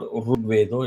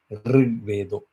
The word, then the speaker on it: Rigvedo: You see how I'm doing it? The jaw getting widened, the mouth opening up, not closing. It is not Rugvedo, it is Rigvedo. It's a vowel.